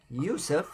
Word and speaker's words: Yusuf: that was our brother he took the name Yusef cuz it's the how you pronounce it in Arabic so we got another